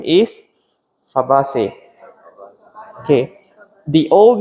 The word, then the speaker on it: Fabaceae: So how do you pronounce this family if you are talking to an Italian friend? What's the name of this family? Fabaceae. That's your American friend.